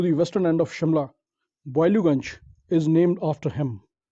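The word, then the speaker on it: Boileauganj: The famous area to the western end of Shimla, Boiluganj, is named after him. Locally, we have spoiled the pronunciation of Boiluganj to Baluganj. Actually, it is pronounced as Boiluganj.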